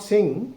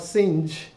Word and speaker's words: Synge: The pronunciation is not Singh but Synge because G is a weak consonant and it is followed by E.